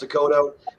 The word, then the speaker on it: Descoteaux: The last name's pronounced Descoteaux. I know it's weird, it's long, it's French, but it's like North Dakota, South Dakota. Take the A off and put the O at the end.